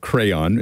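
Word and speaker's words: Craiyon: so my pick for the week is called crayon it's not spelled the way you'd normally spell it it's c-r-a-i-a-i the important part here uh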